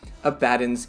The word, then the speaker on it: Abaddon: and i was told abaddon like aladdin but i'm perfectly happy